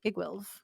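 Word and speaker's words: Iggwilv: as Igwilv. Look at you pronouncing shit properly.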